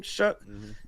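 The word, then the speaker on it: Shough: Shuck is in there for uh trying to get the offensive rookie I mean excuse me rookie of the year.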